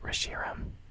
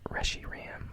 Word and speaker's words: Reshiram: I don't really feel like changing I say Reshiram everybody says Reggie Ram I think I don't know I always end